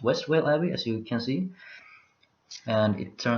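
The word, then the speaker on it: Westvale Abbey: Sorcery, double, and I see that I have what I apparently call it, Westminster Abbey. It's pronounced Westwell Abbey, as you can see.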